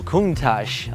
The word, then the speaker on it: Countach: Oh, Countach. Okay. All right. I wish I speak Italian, so I will understand the excitement. Your pronounce of Countach is perfect.